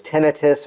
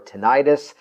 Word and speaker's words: tinnitus: In a related category, depending on the pronunciation, sometimes referred to as tinnitus or tinnitus, a ringing, or actually, as I used to have at one point, a buzzing static sound in my ear.